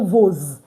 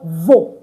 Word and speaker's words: vos: So I did not pronounce this first S as Z. I didn't pronounce it at all because it's not between two vowels. So it's just vos livres, your books. But look at this one. Vos églises. Your churches. Why? Because we have S in between two vowels.